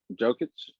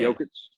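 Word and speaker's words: Jokić: Jokic. Yeah. Jokic.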